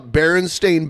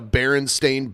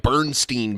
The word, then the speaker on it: Berenstain: So I knew the correct way to say the name because they would say it in the commercials. But people who didn't know called it like Bernstein Bears. Right. So like people were wrong about the name.